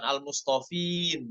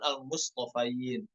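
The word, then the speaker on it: المصطفين: th dan huruf Fanya bukan almofin namun almofain Sama juga alladzain seperti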